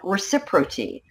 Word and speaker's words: ReciProty: I always say, people say, Renee, how do you pronounce ReciProty? I say reciprocate on ReciProty.